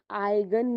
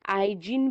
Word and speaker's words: eigen: Simply आप उनको major करते हो आइगन वैल्यूज में। आइजिन भी बोल सकते हो आप, आइगन भी बोल सकते हो, बस उसका साइलेंट प्रोनाउंसिएशन करो। जनरली स्टैंडर्डली प्रोनाउंसिएशन में आइगन वैल्यू बोलते हैं उसको।